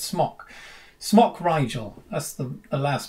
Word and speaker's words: Smok: I pronounce it smock. I think it's smock. I've heard it pronounced smoke, but there's no E on the end, so it's smock.